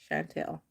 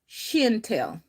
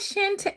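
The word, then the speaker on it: Chantell: But uh my Mississippi family, they call me Shintel. I'm like, it's not Shantel. Shantel. I'm like, listen, how do you get Shintel from a C H A N T E L L.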